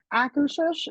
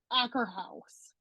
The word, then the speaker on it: Akershus: So, I was calling it Acker House. oh, And oh, yeah. a Yes, client corrected me. It was like, there's no H. And I was, or there is an H, but at the end.